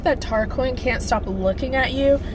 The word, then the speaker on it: Tarquin: Tarquin is how I pronounce his name, and everything's pretty tense.